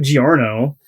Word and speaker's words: Giorno: Just like pronunciation, like you have Giorno. But that's not Joe. But it's like a G.